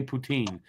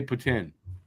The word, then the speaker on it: poutine: is if you don't if you're not from Quebec and you don't know how to say it properly you say poutine if you're from Quebec where it was originated you say Puttin put it where you